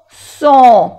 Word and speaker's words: sont: O-N on, sont. No se pronuncia la T.